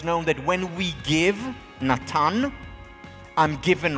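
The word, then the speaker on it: נתן: You know the name Nathan? Nathan in Hebrew is Natan.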